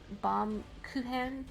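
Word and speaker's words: Baumkuchen: See, I always hear it pronounced in Japanese because it's a popular treat in Japan. Bom Kuchen, they say.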